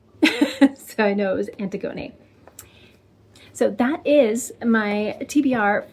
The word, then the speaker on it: Antigone: Thank you to the wonderful person who phonetically spelled it out for me. So I know it was Antigone.